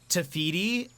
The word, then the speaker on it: Te Fiti: good stuff about it it's pronounced te fiti and her heart needs